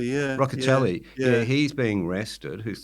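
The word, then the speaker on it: Rocchiccioli: um Cory how do you say his name rock roell yeah Rockell yeah he's being rested who's the preferred spinner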